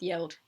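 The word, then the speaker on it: geld: written Guild tax but as far as I'm aware it should be pronounced yelled I might be wrong they collected fines from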